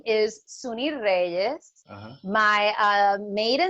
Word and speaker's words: Sunny Reyes: Suni Reyes. Suni Reyes, okay. Or how they pronounce it, Sunny Reyes.